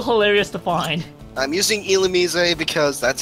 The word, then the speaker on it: Illumise: I'm using Illumise because that's how the anime pronounced it, and that's how I've known it for years.